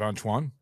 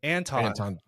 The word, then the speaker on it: Anton: Do they have more of a backstory of Antoine? That's 3. Take a shot. Antoine? What I say? Antoine. You said it 3 times. Then how do you say it? Anton. There's no W.